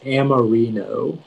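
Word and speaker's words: amorino: all right your word is amarino can you repeat the word uh the word is amarino amarino may i please have all of the information yeah so it can be pronounced amarino or amarino it's a noun and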